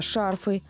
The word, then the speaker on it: шарфы: Похожие слова, в которых часто делают ошибки, это шарфы, банты, порты, лифты. В них также во всех формах ударение всегда ставится на первый слог.